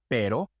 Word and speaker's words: pero: The R has two sounds. The soft sound, which is like the fast D sound in English, pero, cara, varios, and the hard rolled sound, rápido, rosa.